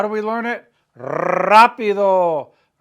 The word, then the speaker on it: rápido: Rápido. Rapidísimo. Roll your R's, right?